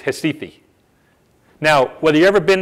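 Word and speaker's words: Recife: it looks like recite pronounced in Portuguese it's histy fee now whether you ever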